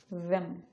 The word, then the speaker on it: them: Our next word is them.